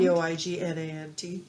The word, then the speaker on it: poignant: is very poignant is that how can I pronounce that right to the point p o i g n a n t yeah poignant usually means like sad no look